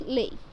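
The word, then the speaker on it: Leigh: and it's right phrase lei hunt it's pronunciation is lay second is who was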